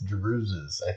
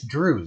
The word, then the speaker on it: Druze: juices are able to think it's druzes what is it it's drew's it's kind of like deer or fish how do you say